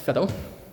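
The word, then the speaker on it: Veddel: called Fed um V E DD L uh pronounced Fed and um yeah sort of the industrial uh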